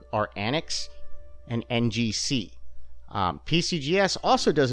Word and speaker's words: ANACS: Okay, first of all, we are going to be taking a look at Annex, which is spelled ANACS.